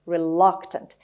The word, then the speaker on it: reluctant: is reluctant reluctant reluctant the stress is on the second syllable on l reluctant it means unwilling unwilling